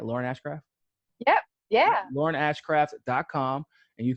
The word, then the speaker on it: Lauren Ashcraft: Am I pronouncing that right? Lauren Ashcraft?